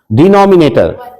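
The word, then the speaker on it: denominator: को क्या कहते हैं रॉन्ग ने गलत प्रोनाउंस डिनॉमिनेटर वही कैसे क्या बोलेंगे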